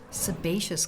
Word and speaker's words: sebaceous: Sebaceous glands, pronounced sebaceous.